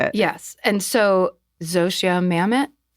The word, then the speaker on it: Zosia Mamet: And so Zosia Mamet Yeah. How did I pronounce it correctly?